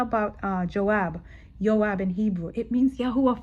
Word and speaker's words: Joab: Yoab in Hebrew.